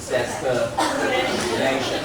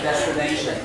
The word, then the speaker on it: destination: So the stress is on here, N-A. So here it should be destination. Okay, once again, destination.